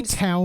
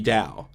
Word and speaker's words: Dao: just oh my god they say towel magic on the show but that's yeah to pronounce it correctly it would be dao but you said ki